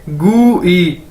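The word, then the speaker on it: 贵: अगर इसके साथ आई लग गया तो इसे हम कैसे पढ़ेंगे गू ई, ठीक है, GUI गू ई, गू ई नहीं, एग्जैक्ट ई नहीं कहना, गू ई, ठीक है।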